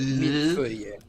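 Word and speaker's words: mille-feuille: I pronounce it millefeuille. Ah, so millefeuille is close. Yeah. It's French, so.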